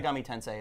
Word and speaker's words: Shin Megami Tensei: Shin Megami Tensei is how you say it.